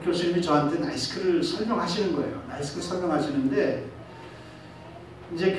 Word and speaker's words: NYSKC: 나이키스가 아니고 따라서 해봐요. 나이스크. 그래서 나이스크. 그래서 스페링이 어떻게 됩니까? 그랬더니 NYSKC래요. NYSKC를 어떻게 발음을 그렇게 하시나? 내가 그냥 그렇게 만들어서 내가 붙인 거니까 그렇게 따라 하세요.